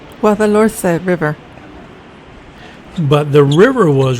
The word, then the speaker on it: Guadalhorce: I'm not even going to try to pronounce the name of this river. Can't roll my R's. My wife's a Spanish speaker, and so I'll insert her pronunciation. Guadalhorce River.